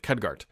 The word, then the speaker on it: Khadgar: time pronouncing names I absolutely do it is pronounced CAD cadgart I believe khadgar so Brad hope you're having a good holiday